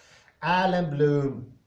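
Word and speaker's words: Allan Bloom: right now thank god for that finally correct alan bloom he criticized the educational system it's going down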